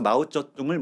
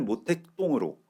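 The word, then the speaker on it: 毛泽东: 식대로 그들의 이름을 불렀죠 그래서 마오쩌둥을 모택동으로 덩샤오핑을 등소평으로 부르던 시절이 있었습니다 그런데 우리가 시진핑 주석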